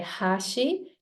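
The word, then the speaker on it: 端: So hashi or hashi could have 3 meanings in Japanese. When I say hashi, that means chopsticks. And then when I say hashi, that becomes a bridge. And then when I say hashi, that means edge.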